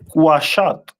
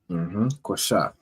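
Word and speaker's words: קשת: The symbol of Gad is a bow, which is pronounced in Hebrew as Quashat. Quashat.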